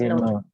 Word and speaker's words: known: Is known. No, new, known. Okay, so you just, the K is silent, jadi K-nya nggak dibaca no, like that. No, new, known. Okay, K-nya silent, the K is silent.